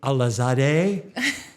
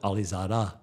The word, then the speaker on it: Alazadeh: Eddie Alazadeh, because you have to say it that way, because his wife, Leslie, will get mad if you don't say it correctly. Leslie, I love your husband, and I call it Alizada.